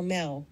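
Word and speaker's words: Mau: M actually stands for Mel which would be pronounced like the cat language we know and love meow Theory two the Virgin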